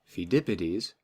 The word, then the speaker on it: Pheidippides: It has a silent P in the front. Pheidippides ran from Greece to Athens, which was just about 25 miles, to announce their victory over the Persians.